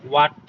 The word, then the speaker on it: what: ওকে, এটা এটা কি বলি, ডাব্লিউ এর পর যদি সচরাচর এইচ থাকে তাহলে এইচ এর উচ্চারণটা হয় না, এই এইচটা সাইলেন্ট হয়ে যায়। ডাব্লিউ এর উচ্চারণটা ও ও হিসাবে ব্যবহার করা হয়। তাহলে WHAT আমরা আগে বলতাম এটা হোয়াট, বাট এটা হোয়াট হবে না, এটা হোয়াট।